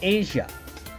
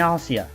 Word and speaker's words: Asia: say speed bumps into asia i mean asia no seriously why is her name spelled the same way as the country but pronounced differently did they really want